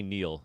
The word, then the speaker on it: Niall: I'm pretty sure you say Niall, even though it's spelled Niall.